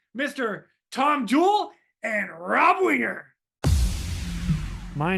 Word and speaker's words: Winger: Tom Jewell and Rob Winger.